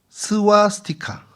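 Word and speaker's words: स्वस्तिक: 문자가 스와스티카 이게 좀 발음이 스바스티카라고도 하고 스와스티카라고도 하는데 복 복을 상징하고 행운을 상징하고 축복을 상징하는 글자입니다.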